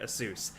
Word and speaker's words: Asus: how you say it you actually say it Asus I know people make fun of me but I literally asked the company they that's how they say it but the newest thing